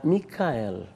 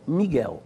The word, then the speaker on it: Micael: esta mel mel mikel quando você faz a a transliteração para a língua portuguesa da Micael e não miguel miguel portanto é uma